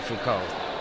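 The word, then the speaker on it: Foucault: it seen it written if you pronounce it in French it'd be Fuko Fuko okay um we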